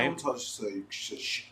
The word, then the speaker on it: Suge: I don't touch Suge. How do you say his name? Suge. Suge.